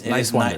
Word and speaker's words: Niswander: Talking to Niswander. But it's Niswander. just think nice and wander.